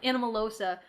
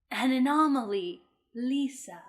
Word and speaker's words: Anomalisa: it's called she's like I think it's actually pronounced anomaly so no like oh yeah which obviously then they say in the movie an anomaly Lisa yeah I'm a dum-dum